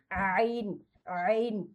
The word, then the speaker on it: ع: এজন্য এটাকে আমাদের এই গলা মানে এটার কোনো বাংলা উচ্চারণই নেই, আইনের কোনো বাংলা উচ্চারণ নেই।